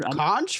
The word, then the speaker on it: conch: I'm Conch fritters. conch. That's Conch. Wait, conch? COUNCH. That's how you say it. Conch. No. There's no you.